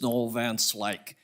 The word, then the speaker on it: Noel Van Slyke: Just real quick, correct pronunciation is Noel Van Slyke.